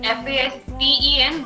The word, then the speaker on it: fasten: I know the spelling is F-A-S-T-E-N, but T is silent in that.